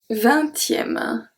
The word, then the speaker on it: vingtième: So here, we don't pronounce the G, we don't pronounce the P, and we don't pronounce the S. Longtemps. Okay? Next one. Vingtième.